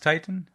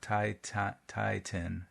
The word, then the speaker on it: Titin: It's pronounced Titan, not Titan. Titan.